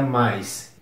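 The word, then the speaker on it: mice: Mouse é mais m i c e ratos pronuncia mais e eu acho que essa lista tá muito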